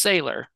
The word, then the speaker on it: Saylor: I'm not sure if I'm pronouncing something right. So it's Saylor, you said.